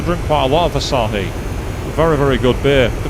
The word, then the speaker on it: Asahi: And I went, no, I'd like a pint of Asahi. What are you saying it like that for? And I'm like, because it's Japanese and that's how it's pronounced.